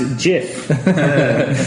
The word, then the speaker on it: GIF: be he could be it's pronounced JF not GIF I say I say